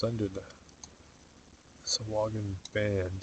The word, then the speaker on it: Sahuagin: Yeah, it took me a long time to realize that it was pronounced Sahuagin. I was always saying Sahuagin because I just read it, and that's how I thought it would be pronounced.